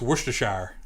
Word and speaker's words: Worcestershire: saying it wrong too it's not worcester sauce it's worcestershire it's a winchester sauce